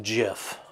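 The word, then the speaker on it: GIF: want to go try to it it is pronounced jiff i will take no questions on that the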